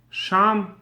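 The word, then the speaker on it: שָׁם: on this week's reading where do you find two words in a row that are written precisely the same way in our Torah Scrolls but mean and are pronounced differently the answer is sham Sam this is the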